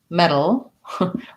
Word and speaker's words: metal: answer all the same they all have the red tent vowel and then a flap which i'll write this way it's basically between a t and a d metal oh and then